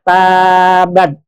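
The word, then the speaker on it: تبت: Celakalah jadi tabat Celakalah kalau Bacanya tabat apa artinya ya kembali atau bertat makanya enggak boleh panjangin ya maka di sini antara celaka dan kembali bertaubat kan jauh ya maka tabat harus pendek ya tabat ya I Celakalah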